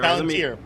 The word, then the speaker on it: Palantir: Palantir. All right, pronunciation is good there.